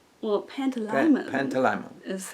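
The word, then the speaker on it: Pantalaimon: Coulter has her demon grab Lyra's demon Pandalimon. Well, Pantalimon.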